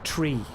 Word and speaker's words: three: two three right uh in proper aviation speak you say tree like true corkman from ireland tree so i'd say uh echo one two three that's the right way to say it uh which sounds very